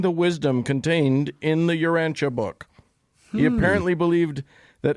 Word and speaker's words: Urantia: So Urantia is how it's pronounced.